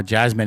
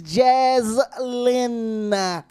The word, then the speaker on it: Jaslyn: Oh, Jasmine, it's all pretty. Will you quit calling her Jasmine? It's Jaslyn. Whatever.